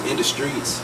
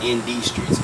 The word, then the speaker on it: Industreets: And business is Industreets. It's spelled like INDUSTREETS TV. It's all one word. Industreets TV. Not ND Streets, Industry. It's spelled like industry and street put together.